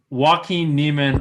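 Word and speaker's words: Joaquin Niemann: bias no i apparently don't know how to pronounce a j correctly uh joaquin neiman i'll start him at five grand seven eight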